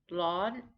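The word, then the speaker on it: ร้อน: temperature to be hot lawn this is a high tone it gets a little bit higher than it begins but it's just high the whole time lawn this is also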